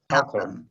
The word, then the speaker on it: Halcomb: Is that pronounced correct? Halcomb.